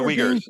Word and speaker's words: Uyghurs: And now the Uyghurs, is that how you pronounce the people? Yeah, the Uyghurs, yeah.